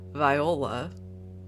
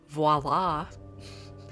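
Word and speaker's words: voilà: i know that word so i said viola i don't know why uh maybe because i was channeling she's the man or something i don't know but anyway it's actually properly pronounced voila so i feel like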